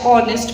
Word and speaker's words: honest: Next is dash honest man. The word here starts with H, but the pronunciation starts with vowel sound, that is O.